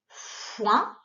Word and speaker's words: foin: Le mot outil, c'est le mot le foin qui s'écrit avec un F pour faire et O-I-N pour faire ouin.